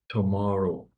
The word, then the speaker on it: tomorrow: complete new outfits well which syllable has all of the power in the word tomorrow uh tomorrow uh m one that's right so that that's the syllable that you want to make bigger tomorrow tomorrow we'll have